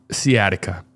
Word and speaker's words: sciatica: You don't pronounce that C. Okay. Sciatica.